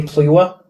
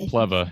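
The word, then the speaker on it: Plewa: second string and johnny pliwa is the third string yeah it actually pronounced plebba and if you remember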